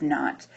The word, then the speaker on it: naught: is called a sub naught. When you have a 0 subscript, it's pronounced not.